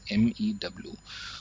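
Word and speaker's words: μ: So this is a Greek letter and it is pronounced as mu, which is MEW.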